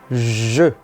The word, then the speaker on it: je: Mais uma vez, atenção à pronúncia, a boca do é je.